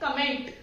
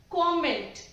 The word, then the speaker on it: comment: बट इसे हम कमेंट pronounce करते ही नहीं है, इसका एक्चुअल प्रोनाउंसिएशन है कॉमेंट। इसका एक्चुअल प्रोनाउंसिएशन है कॉमेंट, इट्स नॉट कमेंट।